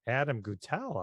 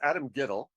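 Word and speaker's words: Adam Guettel: So my question is, in terms of Rent, is what is Adam Guttell up to these days? Well, it's pronounced Adam Gittell.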